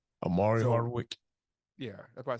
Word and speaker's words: Omari Hardwick: a Denzel Washington and Omar Hardwick that's how you say his name Omari Hardwick yeah that's what I